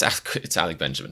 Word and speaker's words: Alec Benjamin: Now I'm paranoid I'm saying his name wrong. It's Alec Benjamin, thank goodness.